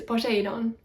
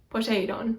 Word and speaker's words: Poseidon: Poseidon is Poseidon, Poseidon. The accent is on the last syllable, but I don't think it's like Poseidon, because that just kind of sounds weird.